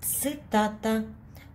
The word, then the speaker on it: цитата: Цитата.